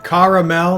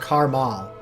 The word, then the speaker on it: caramel: It's pronounced. Damn it, Sean. It's camel. Oh, okay, it's camel. It's caramel, not caramel.